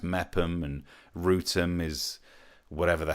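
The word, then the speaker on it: Meopham: Meerpham being pronounced Mepham, and Rootham is...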